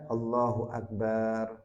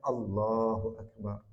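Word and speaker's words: الله أكبر: Enggak boleh dibaca Allahu Akbar. Ee lafzul jalalahnya lamnya harus panjang. Allahu Akbar.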